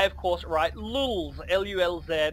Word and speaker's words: lulz: I, of course, write lulz, L-U-L-Z, and you do not pronounce it lol like you normally would. It's lulz, okay, L-U-L-Z.